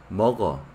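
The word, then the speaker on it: 먹어: Por la regla de pronunciación, se pronuncia de esa manera, mogo.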